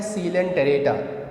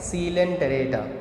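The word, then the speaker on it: Coelenterata: है, आपको क्या है, यहाँ पे वर्ड आ गया सील, COEL, तो यहाँ O साइलेंट है, ठीक है। तो प्रोनाउंसिएशन कैसे करना है, सीलेंटेरेटा, ठीक है। अब देखो आप कैसे बोलोगे, सीलेंटेरेटा, TERETA, टेरेटा, ठीक है। तो आप कभी नहीं बोलोगे TERATA, टेरेटा।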